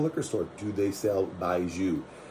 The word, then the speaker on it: baijiu: store do they sell baiju i will spell it on the screen because it doesn't sound like it says um maybe we can